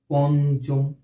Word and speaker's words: পঞ্চম: হ্যাঁ পঞ্চম এই যে এখানে ন কিন্তু উচ্চারণ হয়ে গেল পন ইয় টা ন হিসেবে উচ্চারিত হয়ে গেল এজন্য কিন্তু এখানে আমরা